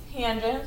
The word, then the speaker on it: tangent: And then tangent of theta right, abbreviated TAN, but still pronounced tangent, so we would say